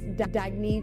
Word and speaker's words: Dagne: good you can live life intentionally oh it's pronounced dagne do dagy means new dawn it's a new